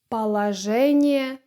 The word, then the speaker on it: положение: And the expression . Can you repeat that? Great! Remember, we have [a] here: .